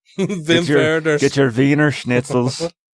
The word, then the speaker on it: Wim Wenders: They're spelled with W's, but I pronounced it like a German. Werner. Wim Wenders.